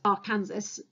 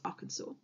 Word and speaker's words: Arkansas: So I know that looks like you'd pronounce it as Arkansas, but it's Arkansas.